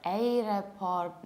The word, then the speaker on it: airport: We have then a very long O and we don't pronounce the middle R.